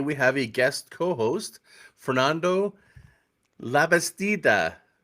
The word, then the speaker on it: Fernando Labastida: Uh, I'm your host, Scott Martin, and today we have a guest co-host, Fernando Labastida. Did I do that right? You pronounce it perfectly, Scott.